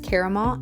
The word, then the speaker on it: caramel: For the first snack we are making is caramel apples. I pronounce it caramel. I know a lot of people pronounce it caramel, but this is the brand that I am using and I got it from Albertsons.